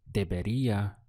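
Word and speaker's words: debería: in Spanish is De the syllables are de be and then Ria at the end so deia means I should it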